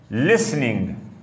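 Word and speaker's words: listening: Number 1 reading, number 2 राइटिंग, number 3 speaking, number 4 लिसनिंग या लिसनिंग। Okay, T इधर silent है।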